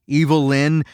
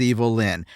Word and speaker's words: Evil Lyn: Ram Man and Fisto and Mechanic, Evil Lyn, whose name is just a phonetic way to pronounce Evelyn, they're all, quite frankly, pretty dumb.